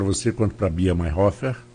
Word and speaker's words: Mayerhofer: Pois é, eu tinha uma pergunta, já colocar logo tanto para você quanto para a Bia Mayhofer. É assim que pronuncia?